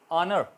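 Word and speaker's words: honour: ऑनर, ऑनर इज़्ज़त, H silent रहा।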